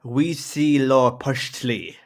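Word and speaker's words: Huitzilopochtli: the south was quezilla i think there's actually a pronunciation for it there which is that we see law postly thank you you can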